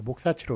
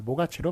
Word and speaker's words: 모가치: 따라서 이제 본 규정을 적용해서 목사치로 몫의 기억 시옷이니까 그래서 시옷이 이제 넘어가서 목사치로 이렇게 적어야 될 것 같지만 아무도 목사치로 발음을 안 한단 말이죠. 다 모가치로 발음을 하니까 그냥 이렇게 뭐 앞에